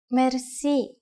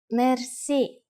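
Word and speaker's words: мерси: which word that is Mery Mery Mery is a long word from French but it is pronounced with a typical Bulgarian hard r r it is used mainly in informal situations Mery how do you answer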